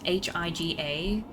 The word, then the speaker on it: Higa: You have to be No, this sounds mean, but you have to be really dense to pronounce hi G- A anyway other than Higa.